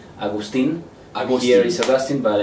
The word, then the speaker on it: Agustin: In Spanish, it should be Agustin.